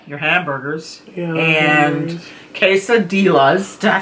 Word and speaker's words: quesadillas: But I know you like your hamburgers and quesadillas. Did I say it right this time? Quesadillas. The L's are silent.